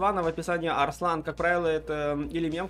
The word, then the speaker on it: Арслан: Ребят, правильно говорить... Арслан.